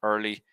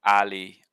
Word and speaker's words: early: the wrong vowel and then you're saying like early like you get up early so the vowel is er but then you're not pronouncing the r so you're saying like ali ali i can't remember if that's exactly what you said but something like that no r sound and changing the vowel beforehand so often when there's